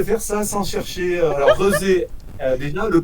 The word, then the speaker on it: Rezé: Alors, Rezé, déjà le prononcer. Oui, Rezé.